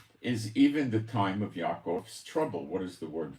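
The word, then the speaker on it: יעקב: It is even the time of Yaakov. It's not Jacob. There's no J in Hebrew. They take the Yud, which is pronounced Yah, and they make it into J's.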